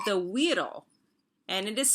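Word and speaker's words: güiro: that is popular in hispanic culture called the weirdo and it is spelled like this g-u-i-r-o and but we pronounce it the weedle okay and it was invented in puerto rico and a widow and i'll show you a picture and there's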